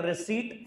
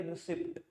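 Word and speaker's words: receipt: ही हो, मैंने कहा रिसीट हिंदी में बोले तो यहां से हमारी रिसिप्ट, रिसिप्ट तो कोई चीज ही नहीं होती, रिसीट ही होती है, पी वर्ड साइलेंट है, ठीक है ना, हिंदी में इसको क्या बोलते हैं, रसीट।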